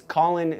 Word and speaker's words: Caulin: people follow um so my name is spelled kind of weird it's collin c-a-u-l-i-n um if you just